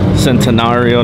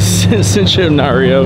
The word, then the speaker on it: Centenario: another one coming in centenario now that I know how to say it because I was saying citizenship Mario uh because you know